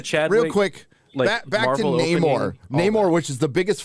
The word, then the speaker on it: Namor: Gary, you're pronouncing it wrong. I'm offended. Oh, sorry. Namor. Okay. It's like Mordor.